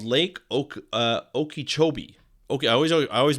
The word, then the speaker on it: Okeechobee: Now, a while ago, there is this lake called Lake Okeechobee. I always mispronounce it, but it's Okeechobee.